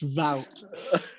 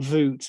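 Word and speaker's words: Wout: pronounce that ghost no yeah it's vout um we've replaced wood with vout not voot it would have been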